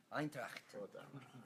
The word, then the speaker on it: Eintracht: How do you pronounce Eintracht? Because her German is not good. Eintracht.